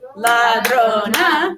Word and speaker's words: ladrona: Now when we clap it out, ladrona, we have what? 3 syllables, and the accent naturally falls on the second to last syllable.